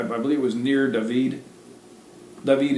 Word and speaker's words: David: David is David. That's how you really pronounce David.